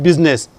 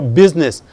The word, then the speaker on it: business: It's not business. Mind your business.